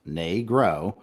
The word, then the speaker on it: negro: to help children learn negro pronounced nay grow is the appropriate word a